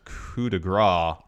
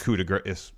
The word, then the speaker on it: coup de grâce: and I think the latter is correct because coup de Gras would be GA g ra s s yeah whereas it's not spelled that way i spelled that grace is coup de grâce coup de Grasse is spelled like that as